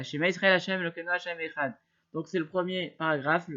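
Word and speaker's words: אחד: Wilvat Shiloh Echatov Bechet, il faut absolument donc faire ça, il faut absolument allonger le Echad. Et surtout, il faut pas, il faut certainement pas enlever le chet, c'est-à-dire qu'il faut bien prononcer le chet.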